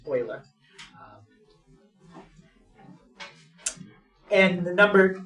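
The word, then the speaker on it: Euler: p e stands for Oiler it's named after the person that discovered it his name is spelled e l e r but it's German so that's why it's pronounced Oiler and the number e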